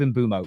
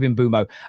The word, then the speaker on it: Mbeumo: So people have also got to remember that you're taking like a word from another language and then you're giving it to a nation like England where within 200 miles we sound foreign to each other. So yeah, it's one of them ones, but we'll go with Imbumo.